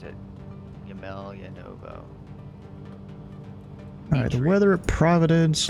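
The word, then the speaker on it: Емельяново: Yemeljanovo. That's how you pronounce it. Yemeljanovo.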